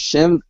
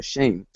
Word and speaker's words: Shem: Uh for instance, Shem Shem's name uh uh name in uh well actually it's pronounced sh uh shame instead of shem.